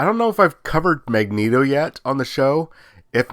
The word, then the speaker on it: Magneto: mutants leader is uh magneto and that's how it's supposed to be pronounced by the way it's not magneto it's magneto but coming in out